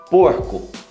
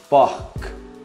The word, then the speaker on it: porc: Porco. Porc. Você pronuncia o C também.